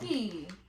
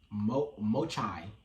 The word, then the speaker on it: mochi: Hami melon mochi. Mochi. Mochai.